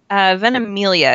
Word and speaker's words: Ventimiglia: love and Timmy gilja how do you say his name Ventimiglia is how i've heard it pronounced them he was on